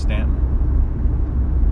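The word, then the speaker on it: Staunton: Stanton Virginia North is Stanton I can never remember how to pronounce it I'm so sorry yeah just pretend there's no you in it St in Virginia the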